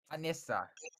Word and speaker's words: Anissa: Anissa. That's how it's pronounced.